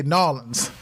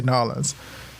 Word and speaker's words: New Orleans: It's New Orleans or New Orleans. No. New Orleans. We do have a draw, so it does sound like Lawlins, if you say it like that.